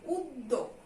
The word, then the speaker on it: উদ্যোগ: এখানে কিন্তু দয়ের ডাবল উচ্চারণ হয়ে যাবে। উদ পর্যন্ত একটা উচ্চারণ হয়, এখানে একটা থামছি আমরা, তাই হসন্ত। আবার দোক একটা উচ্চারণ হয়, এখানে আমরা থামছি, তাই এখানে একটা হসন্ত। উদ্যোগ।